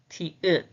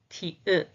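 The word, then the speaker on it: 티읕: Okay, the last page for today is this pronunciation is ta, ta, ta, ta, ta, ta. The name is ti-ut, ti-ut, ti-ut, ti-ut, ti-ut.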